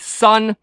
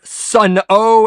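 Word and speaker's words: Sunn O))): Greg Anderson best known for his work with sun and no not Sun o as some mispronounce it and although there is a little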